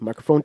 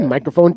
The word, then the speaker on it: Mikerphone: microphone check 1.2 okay so it's spelled m i k e it's not like the m-i-c-r-o yeah maybe the owner's